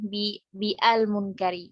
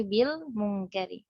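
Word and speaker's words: بِالْمُنْكَرِ: Jadi bukan bi al munkari, tidak, tapi bil munkari.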